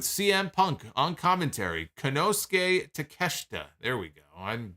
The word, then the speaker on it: Takeshita: semi-final match we have hangman page against konosuke takeshite with CM Punk on commentary kanosuke takeshita there we go I'm butchered this time takeshita I made comments about